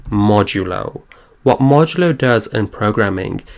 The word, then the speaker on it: modulo: and that's this percent sign and this is pronounced modulo what modulo does in programming is it gives